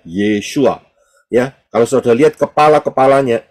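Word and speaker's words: ישוע: paling kiri adalah Ayin Yod Shin wau Ayin itu bacanya yesua Ya kalau saudara lihat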